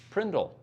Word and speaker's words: PRNDL: And he says that it is the PRNDL and it's pronounced Prindle. Put it in P in the Okay, Prindle.